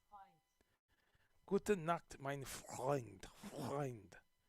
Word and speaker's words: Freund: Freund. That's the tough one in Germany. That the vowels.